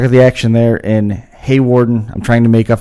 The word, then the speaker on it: Hawarden: Hawarden, did I say it right that time? Hawarden? Hawarden, yep. Hawarden, Iowa, the site of the Domination Motorsports Championship coming up Saturday the 1st.